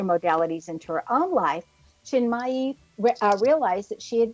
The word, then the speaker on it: Chinmayi: Our expert tonight is Julie Chinmayi Door. And I might have misspel mispronounced that middle name.